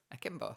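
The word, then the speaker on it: Akimbo: my company name though a kimbo it's not that hard it's like they've never seen an action movie ever we haven't named the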